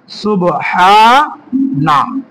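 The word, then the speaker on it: سبحان: নিয়ে নিয়ে আসি এখন বাংলার হিসেবে তাহলে হবে সুবহানা ঠিক আছে সুবহানা তারপরে আমরা আরো শব্দ দেখি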